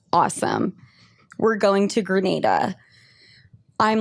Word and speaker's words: Grenada: I come to find out, once I got there and I asked the locals, it is pronounced Grenada.